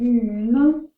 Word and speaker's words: une: This is a feminine word, so make sure we're pronouncing it une.